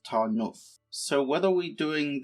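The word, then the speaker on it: Tarnów: i found that out the same way that tan now is actually pronounced tarnov so what are we doing this session well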